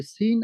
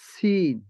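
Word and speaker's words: س: জিহ্বার আগা সামনের নিচের দুই দাঁতের প্যাট ও আগার সঙ্গে লাগাইয়া সিন, সিন।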